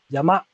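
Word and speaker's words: 山: reading on your me so it's sun for mountain and when you actually pronounce it you say yama yama so your japanese friends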